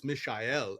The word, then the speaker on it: Michael: a little boy and the way you say Michael in German is mishel and it's spelled very similar to Michelle and my dad being